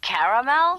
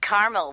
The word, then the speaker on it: caramel: getting caramel oh the caramel yeah that's what I said Tina actually you said caramel when it's pronounced caramel can't we just call